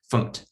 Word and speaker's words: fmt: And if you hear me saying funct, that's just because people pronounce this as funct, FMT, just short for format, I think.